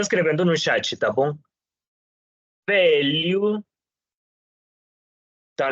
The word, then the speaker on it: velho: Velho. Então, lembrem-se que quando tenho LH, tá bom? Sempre vou pronunciar como li, tá bom? Velho.